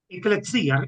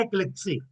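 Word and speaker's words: ἐκκλησία: viene del griego eclesia que ya no sería la ah ecleía, se se pronuncia eclesía.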